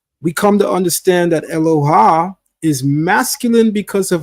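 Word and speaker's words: אלוה: term is eloha eloha now we get the pronunciation eloha from the mtic scribes who place under the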